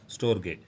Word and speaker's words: storge: இந்த STORGE வந்து எப்படி ப்ரொனவுன்ஸ் பண்ணணும், கிரேக்கத்தில் எப்படி ப்ரொனவுன்ஸ் பண்ணணும்னா ஸ்டோர்கே.